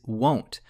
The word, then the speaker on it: won't: form of will is won't, which can be tricky to pronounce. It requires a hard O sound. Won't like go or no.